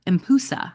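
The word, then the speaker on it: Empusa: descendant of a imp impusa I think is how you pronounce it e m p UA impusa a shape-shifting vampire oh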